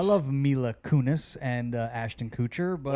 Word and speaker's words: Kutcher: Mila Kunis and Ashton Kutcher but how do you call it a coach well he his name is not Kucher it's Kutcher Kutcher how do you say